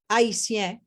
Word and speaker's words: Haiti: The point of the matter is, we've always, as Haitien or Haitian, for those who don't understand what that means, I don't use the word because that wasn't his original pronunciation, right? Haiti is the original pronunciation.